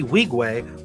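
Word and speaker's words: Nwigwe: no wait one second okay so the end is silent so Toby wigwe was uh really great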